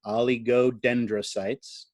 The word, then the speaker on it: oligodendrocytes: And here's the big one, oligodendrocytes. And that is how you pronounce it.